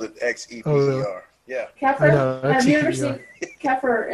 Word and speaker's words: Xeper: Keffer. It sounds like Keffer, but it's Xeper.